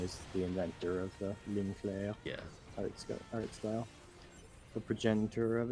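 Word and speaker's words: ligne claire: what he called the Ligne Clair art style, which is not very not very good French pronunciation there. Yeah. It's more like Ligne Clair.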